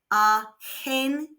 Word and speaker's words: argentino: And if it's followed by an e or an i, it makes a h sound. So this is pronounced aentino.